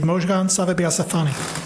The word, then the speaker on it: Mozhgan Savabieasfahani: Our next speaker is Mozhgan Savabieasfahani. Oh, on on May you just spoke my name correctly for the first time in 12 years. In 12 years he wasn't able to pronounce it.